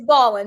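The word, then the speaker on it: MrBallen: It's Ballin, Mr.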